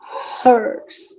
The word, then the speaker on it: hours: Yeah, studies for about 5 hours. No H. Hours. 5 hours. 5 hours. The H is silent.